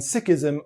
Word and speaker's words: Sikhism: and by the way i'm saying sikh and sikhism on purpose that is the way that it's actually pronounced in punjabi and the way lots of six prefer it to be pronounced there are 25 million